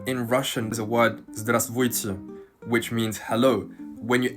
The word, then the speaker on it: Здравствуйте: And in fact, the pronunciation is so naturally derived from the correct spelling into what is just easier to say. Здравствуйте becomes здравствуйте. And you'll find this a